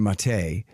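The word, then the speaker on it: Maté: uh I never say it right it's Aaron mate and and your great work and I'm forgetting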